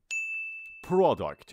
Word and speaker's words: product: product، اصلا تلفظ این لغت پرونیش میگیم پرا. اوکی product، product نه، نگیم product.